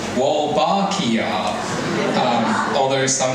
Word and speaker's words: Wolbachia: And it's pronounced Wbakia. Um, although some say Wbakia, Jack and Steph.